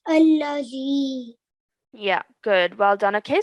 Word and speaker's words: الذي: That there's an alif, and if there's no stroke on it, we pretend like there's the stroke on the top of it, and then we pronounce it as allazi.